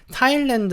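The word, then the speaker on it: Thailand: 싸인만 사이렌 안하셔도 되고요 여기 그냥 h 는 무시해 버리세요 그래서 우리가 한국어로도 좀 알고 있는 타일랜드 라고 그대로 발음 해주시면 됩니다 근데 영국식 같은 경우에는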